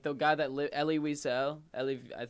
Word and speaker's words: Wiesel: guy that lit ellie wiesel ellie i believe it's v cell technically diesel i don't know but um spelled with a w um it was like